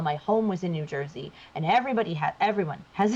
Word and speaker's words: Jersey: I don't say joy. None of us do. It's New Jersey. Jersey. Jersey. That's how you say it. Like I don't know what who came up with joysy, but like that's not a thing.